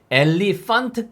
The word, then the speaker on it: elephant: 거에요 자 그래서 똑같이 엘레 판 tle 판 츠다 아니구요 엘리펀트 까지 이렇게 따온 어떠한